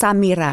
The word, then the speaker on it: Samaire: It's pronounced Samaire. Samaire.